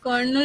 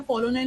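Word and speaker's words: colonel: কে দিয়ে কার্নাল, কার্নাল মানে হচ্ছে সিট বা বীজ, আর কলোনেল মানে হচ্ছে, বা কার্নাল বলা হয়, এই প্রোনাউন্সিয়েশনটা কলোনেল হয় না কার্নাল হয়, মানে অফিসার, যে কিনা আর কি তোমার অফিসে হেড।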